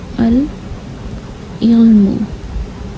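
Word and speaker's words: العلم: अल इल्मु, अल इल्मु। यहाँ पर आइन जो आया है ये हुरूफ कमरिया है, लिहाजा आपने यहाँ पर अल को प्रोनाउंस किया है।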